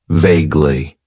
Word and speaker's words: vaguely: use and that is vaguely it has two syllables and the stress is on that first syllable vaguely vaguely means that something